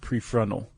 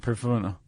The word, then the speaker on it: prefrontal: And that word also is usually pronounced prefrontal, not prefrontal.